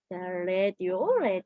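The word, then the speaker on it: radio: 이까 같이 알아가 봅시다 아은 르는 아가 아니라 a 발음이 그다음에는 드 아는이는 오 이래서 라디오가 아니라 디오가 맞는 표현이에요 레디오 레디오 여러분 오늘까지 아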